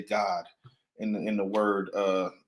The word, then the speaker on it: Gad: ancient Hebrew so um Gad is how you would say g a d Gad in English but in Hebrew it would be God all right go ahead